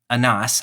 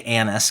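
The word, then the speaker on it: Annas: That there was a high priest whose name was Anas. I say Annis because I'm from Arkansas, but your pronunciation is better to the uh to the original.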